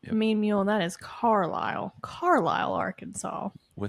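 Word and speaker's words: Carlisle: That is Carile. Carile, Arkansas, with an S. What did I say? Carisel. Caris. Caris. Yeah, but the S is silent.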